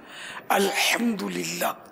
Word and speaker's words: الحمدللہ: الحمدللہ یہ بھی تلفظ درست کرنا ہے، الحمدللہ.